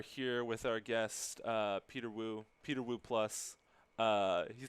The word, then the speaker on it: Peter Wu: with our guest uh peter wu peter wu plus uh he told me the plus is silent yeah it's a good